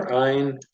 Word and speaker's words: Ayin: We've got Nun, we've covered Samech, we covered the silent letter Ayin, covered Pei and Fei, and Pei and Fei Sophit.